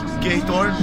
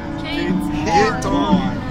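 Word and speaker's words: Giethoorn: So my version is Geithoorn. Yours? Geithoorn. I know that it ends with Thorn.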